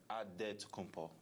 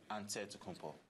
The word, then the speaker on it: Antetokounmpo: So it's Antetokounmpo. But in the Greek way, you say with the NT, like Antetokounmpo. Antetokounmpo.